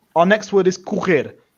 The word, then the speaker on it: correr: down to syllables, again, we start with ku. And what I'm going to do is I'm going to break this little R at the end here to make it stand out. So we're going to start with ku, which is like a C and a soft O.